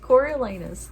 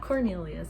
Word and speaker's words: Coriolanus: Anyways, yeah, Coriolanus, not Cornelius. I have to remember that.